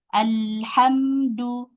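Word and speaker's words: الحمد: Alhamdu ya, alhamdulillah. Ya, di sini hamzah wasalnya fathah. Jadi menjadi dibaca fathah.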